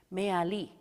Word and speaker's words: Me'ali: And the last syllable is accented.